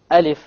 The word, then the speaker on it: Alif: the letter in which You only pronounce the name and you have no Mad whatsoever no m and that